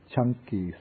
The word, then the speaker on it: Canki: This is called the Canki Sutta. In Pali, the C, it's pronounced like CH.